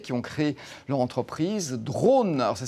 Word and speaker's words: Drawn: Cette machine révolutionnaire, eh bien, on la doit à un ingénieur et un designer lyonnais qui ont créé leur entreprise Drone. Alors, ça ne s'écrit pas D-R-O-N-E, mais D-R-A-W-N, qui signifie dessiner en anglais.